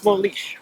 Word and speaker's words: Molix: Or Molex. Molish is what the indigenous pronounce the X. yeah, it's like in Mexico, that X Right, is that's what